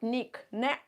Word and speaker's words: knick: group of children so when we write Nick on the board we can note uh point out that uh it's got silent k and you can find